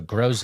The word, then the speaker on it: Groze: Yeah, grow as in grow a garden. Zay as in rhymes with Jose. Thank you. So Groze, awesome.